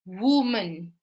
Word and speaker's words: woman: So woman.